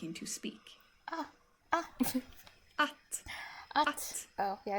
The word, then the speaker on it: att: And that word in Swedish is pronounced like this. Att.